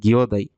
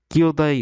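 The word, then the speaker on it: 兄弟: রং এখানে আছে কেও তাই হবে দায় এর উচ্চারণ হবে দায় তারানে এটাও ভুল তাই আছে এখানে আছে গিওদায় এখানে যদি কিও থাকতো তাহলে এটা সঠিক উত্তর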